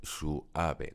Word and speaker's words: suave: Por ejemplo, la palabra suave es un diptongo, pero yo podría ponerle este simbolito, es decir, hacer una diéresis, y entonces habría que pronunciarla como un hiato y tendríamos que decir suave, con lo cual tendríamos una sílaba más.